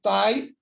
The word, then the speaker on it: tae: É escrito tai, mas pronuncia-se T, que significa que, normalmente, né, generalizou dizer que tai é pé.